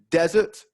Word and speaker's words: desert: of sweet dessert so the only difference between the two words is the stress desert first syllable dessert second syllable so stress is really